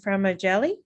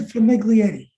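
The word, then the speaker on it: Famiglietti: good evening everybody um i'm sorry if i got your name uh mispronounced well everybody does it that's okay so it's all femiglietti um my name is from niglietti and uh i work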